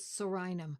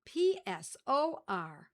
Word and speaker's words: Psorinum: favorites for this is Psorinum and it's spelled P-S-O-R-I-N-U-M. Psorinum. It's like pneumonia where the P is silent.